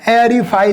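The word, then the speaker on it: aerify: जब कभी भी AE से R जुड़ा होगा मेरे भाई तो आपको क्या प्रोनाउंसिएशन करना है? ए करना है। मतलब इसको जब लिखेंगे बेटा तो क्या लिखते हैं? एरीफाई लिखते हैं।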